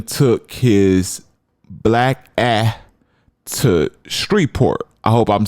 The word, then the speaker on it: Shreveport: So LA then took his black ass to Shreveport. I hope I'm saying that right because I'm not from down south, and I guess the E is silent. So Shreveport instead of Shreveport, Louisiana.